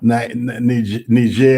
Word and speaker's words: Niger: Niger, as they pronounce, yes, Cote d'Ivoire, Ivory Coast, Senegal, and so forth.